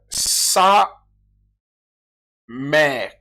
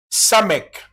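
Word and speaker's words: סמך: Sa mec. Parce que tu attendras d'autres qui prononcent sa mec. Il y en a qui prononcent sa mère.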